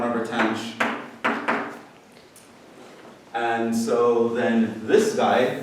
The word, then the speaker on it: tanh: It's pronounced tanh.